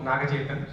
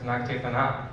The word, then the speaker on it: Nagachetan: Yeah, Navang, and my name also Nagachetan. So I think the announcer told earlier as Nagachetana, so it's okay.